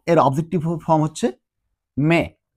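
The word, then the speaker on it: me: তো জো এর objective form হচ্ছে মে। আমরা জানি যে স্প্যানিশে ই মানে এটা এর মতো উচ্চারণ হয় না, তাহলে মে, মে মানে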